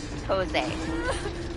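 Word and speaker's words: José: thing M it's Jose the J sounds like an H okay put that in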